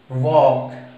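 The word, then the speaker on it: walk: वॉक देखिए, डब्ल्यू ए एल के, एल से पहले ए आया हुआ है, डी एफ के मैंने यहां पे लिखा हुआ और एम, इन चारों में से एल के बाद में के है, तो प्रोनाउंसिएशन जो सही हमारे उच्चरित है वो होगी हमारी वॉक, नॉट ऑफ वॉक, okay.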